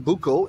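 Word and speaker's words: buko: the Buco video and I said it right this time Buco not boo so don't correct me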